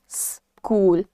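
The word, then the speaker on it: school: ये वर्ड्स नहीं है द वर्ड इज स्कूल स का साउंड तो आधा स और क को कैसे ब्लेंड करना है आपको स से शुरुआत करनी है आपको कहना है स्कूल स्कूल राइट एवरीवन आगे देखिए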